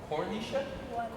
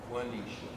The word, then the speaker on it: Juanisha: Cornisha? Quanisha? No. Don't settle for somebody saying your name wrong. How do you spell it? And say it? Juanisha. Okay. Yeah, don't let people call you Quanisha, Unisha, Kidisha.